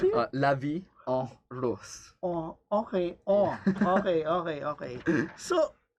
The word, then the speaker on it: La Vie en Rose: How do you pronounce it? La Vie en Rose.